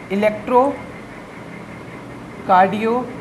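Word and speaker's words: electrocardiogram: इलेक्ट्रो कार्डियोग्राम। जी हाँ, हमेशा इसे ग्राम ही प्रोनाउंस करेंगे क्योंकि ये ग्राफ नहीं होता है।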